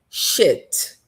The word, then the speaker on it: shit: Então, olha só, a primeira é sheet. Sheet. Não tenha medo de prolongar, de colocar a vogal longa. E a segunda é shit, vogal curta. E veja que esse i tá aqui, mas ele tem som de e.